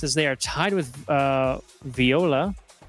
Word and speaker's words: Viola: they are tied with Viola, I believe is how they would want that pronounced. It's not Voila. I believe Voila is OI.